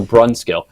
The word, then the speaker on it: Brunskill: It's announced exactly like it's spelled, so Brunskill.